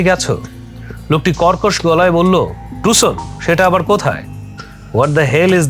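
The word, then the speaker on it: Tucson: লোকটি কর্কশ গলায় বলল টুসন সেটা আবার কোথায় হেল ইজ দ্যাট প্লেস আমি এবার বানান করে বললাম টি সি এস ও এন অনেকে বলে টাকসন আসলে ওটা উচ্চারণ হবে স্টেটে বলল আমেরিকার পশ্চিম অঞ্চলে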